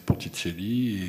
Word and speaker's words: Ponticelli: Mon vrai nom, c'est Ponticelli, qui se prononce en italien, ce que je déteste, Ponticelli, et qui veut dire des petits ponts.